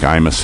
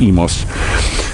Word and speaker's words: Imus: up to emas and it's spelled with an eye you know like imus in the morning but it's emos and uh they had